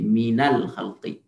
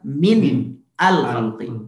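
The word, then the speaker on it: مِنَ الْخَلْقِ: Nah, kalau ini min diganti fathah karena huruf setelahnya tadi Hamzah wasal. Jadi minal khalqi.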